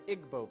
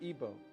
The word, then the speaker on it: Igbo: Another area in Africa you have the Igbo people or Ebo pronounced either way.